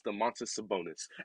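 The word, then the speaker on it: Domantas Sabonis: So for all of you people who can't pronounce it, it's the Montes Sabonis.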